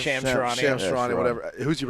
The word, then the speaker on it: Shams Charania: Who's Shams Charania, how do you pronounce his name? Shams Charania.